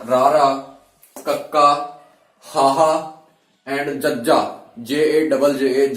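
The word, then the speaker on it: ਜੱਜਾ: J-A-J-J-A, jajja. Stress on the third and fourth.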